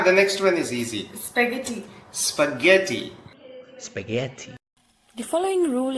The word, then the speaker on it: spaghetti: the following word spaghetti the correct pronunciation is spaghetti spaghetti and remember to use the tt-this spaghetti not spaghetti there's no D very strong tea also when you pronounce